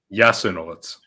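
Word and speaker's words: Jasenovac: Jasanovic. Say it one more time. Jasanovic.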